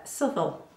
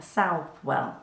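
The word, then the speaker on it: Southwell: so the places uh subtle or south well depending on how you want to pronounce it but it's spelt south well it's got a lot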